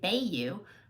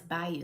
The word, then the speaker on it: bayou: wiping it off byou some people don't know how to say this they always say baay you I used to live in Louisiana so I do know it's by you like bye girl you or by you okay grab us some B